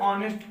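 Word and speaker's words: honest: ही क्यों लगाते हैं, ए हॉनेस्ट मैन क्यों नहीं लिखते, क्योंकि एच हमारा साइलेंट रहता है, यहाँ पे ऑनेस्ट की मीनिंग निकलती है, क्या निकलती है, ऑनेस्ट।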